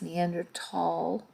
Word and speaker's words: Neanderthal: you look at what a neanderthal it's actually pronounced neanderthal because there's not the h to go saw